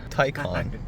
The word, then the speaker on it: Taycan: This is a 2022 Porsche Taycan.